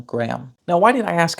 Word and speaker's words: Graham: been pronounced with the it might come from An Origin that means something like gry home and over the centuries grey home turned into gry home gry Gram Gram Graham now why did I